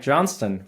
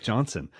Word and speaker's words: Johnston: tuning in and enjoy all right Johnston welcome into the podcast dude thanks for pronouncing the T many people leave the tea out and they just say Johnson uh so I so that already already I'm